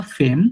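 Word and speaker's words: femme: মানে হাসবেন্ড মাখি মা হাসবেন্ড আর এটা লিখা ফেম বাট উচ্চারণটা হয় ফাম ফাম মানে ওয়াইফম ফাম মানে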